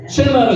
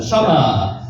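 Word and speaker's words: שמע: 그때가 쉐마입니다. 쉐마 이스라엘 할 때 쉐마라 그러죠. 실제 단어를 발음할 때는 샤마라고 발음합니다. 샤마.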